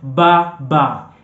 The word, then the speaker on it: baba: No, I'm talking about ba ba. B-A-B-A. It means father. So you say ba ba. And the pronunciation for B in the Swahili language is ba, ba, ba, ba.